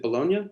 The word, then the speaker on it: Bologna: think of, because you write about, is it Bologna? Is that how it's pronounced?